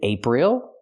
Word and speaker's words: April: Is it April? No, it's not because the stress is on the first syllable, ape.